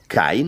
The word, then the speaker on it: Kane: I was thinking of "kane." As in "abel"? K- a-n-e. One strong syllable.